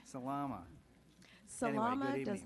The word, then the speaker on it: Salama: If I could phonetically, Salama.